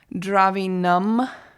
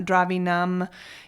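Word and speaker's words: द्रविणम्: think of any but the n-a-m is num um like nam miyoho right not nam and not dravinam you know i might say it that way sometimes on accident but it's supposed to be more of an uh sound so and then that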